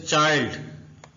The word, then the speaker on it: child: Next sound है I sound, आई, जैसे चाइल्ड। ये चिल्ड नहीं है, कुछ न्यू लर्नर्स इसको चिल्ड पढ़े होते हैं, इसलिए मैंने आपको बताया